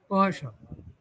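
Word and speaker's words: Poisson: পয়সন মানে হলো fish, এটা হলো ফ্রেঞ্চ একটা নাম, উচ্চারণ হলো এরকম পয়সন, না কাটকায় ধরে উচ্চারণ করার দরকার, ফ্রেঞ্চ নাম আর কি। যারা আরবি পড়তে জানে এটা গুন্নার মতো, কারণ ফ্রেঞ্চে অ্যারাবিকের খুব ইনফ্লুয়েন্স ছিল আগে।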